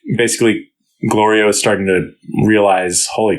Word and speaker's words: Glorio: It's a cool scene in terms of like character where Glorio has been being sort of annoyed at Goku mispronouncing his name for a long time. Goliro, you know, and, it's a funny gag, yeah.